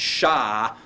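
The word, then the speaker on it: שלום: And I said the vowel has a long A sound similar to the A in father, so that it's an ah sound. That's why this is pronounced shalom, all right?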